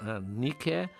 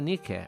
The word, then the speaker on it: Nike: foram buscar na deusa nique a mesma grafia só que a pronúncia não é a moda inglesa nique a deusa da Vitória